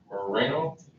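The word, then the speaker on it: Murano: It was a gold, I believe it was a 2009 Nissan Moreno. That's how you say it correctly.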